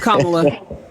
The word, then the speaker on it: Kamala: of these white boys it's comma okay SOA he hey no no no no no no can you say comma for me please kamla all right